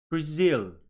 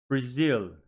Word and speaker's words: Brazil: turkey good here again two syllable words but the stress is on the second syllable please repeat after me Brazil Brazil Japan Japan very good